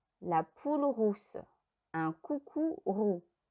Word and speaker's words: roux: Le yaourt, le mazou, la poule rousse, un coucou roux. Le X ne se prononce pas.